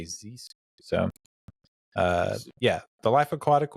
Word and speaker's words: Zissou: I ended up with The Life Aquatic with Steve Zissou. Mhm. Actually, Zissou. I've always mispronounced that. It's hard to break a habit, but in the movie they always say Zissou.